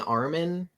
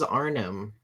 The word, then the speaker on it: Arnim: Are you saying Armin Zola? Armin. I thought it was Arnim.